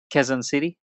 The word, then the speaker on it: Quezon City: Did I pronounce that right, man? Quezon City?